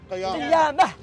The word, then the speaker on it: قيامة: You can say قيامة without T. Why? تاء becomes ها.